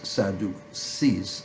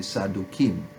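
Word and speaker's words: צדוקים: languages have now trans translated this sadhu sees but it's really sadhu kim and the s of the salukim is really at sadi so it's that's really how it's supposed to be pronounced and they are the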